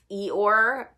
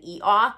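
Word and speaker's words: Eeyore: um e or and i have to actually try really hard to pronounce that name because um naturally i just want to say eat off because that's how i used to pronounce it um from winnie the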